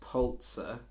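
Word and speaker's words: Pulitzer: I say it right I think it's pronounced polt sir the polt surprise was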